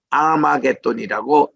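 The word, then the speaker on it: Ἁρμαγεδών: 할 메기또인데 이거를 헬라어로 아마겟돈이라고 이렇게 발음을 합니다.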